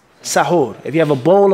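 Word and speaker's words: سَحور: And the second was saying sahur. If you mention it with a fatha, an a, sahur, then it's the actual meal that you're eating.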